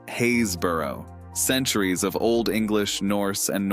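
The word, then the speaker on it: Happisburgh: back to that soon even harder is happersburg pronounced haysborough centuries of old english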